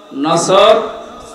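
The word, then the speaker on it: نصر: এজন্য তেলাওয়াত যখন করবেন সওয়াদ উচ্চারণটা মুখ গোল করা লাগে আল্লাহ পাক জানিয়েছেন যখন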